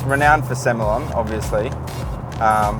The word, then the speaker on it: Semillon: So it's renowned for Semillon, obviously. Some people pronounce it Semillon. If you're from the Hunter, it depends.